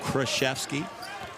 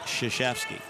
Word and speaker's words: Krzyzewski: Bob Knight used to refer to Mike Krzyzewski as Mike Krzyzewski. And I would say to him, you know it's pronounced Krzyzewski.